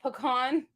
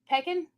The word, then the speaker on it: pecan: Why are they snooty people here that have to say pecan? Star Wars number 5, the first appearance of Wedge. And that one is 100. Can't they just say Peckin?